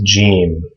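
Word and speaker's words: جيم: The first one is Jeem. And this makes a J sound. Just like in English, like the word George or judge is this letter in Arabic, Ja.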